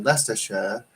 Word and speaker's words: Leicestershire: then you got um uh leicestershire which is spelled my sister sure right interesting how that